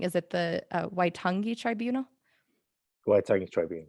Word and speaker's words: Waitangi: And it literally says, I don't want to pronounce it wrong. Is it the Waitangi Tribunal? Waitangi Tribunal. Waitunga, Yeah.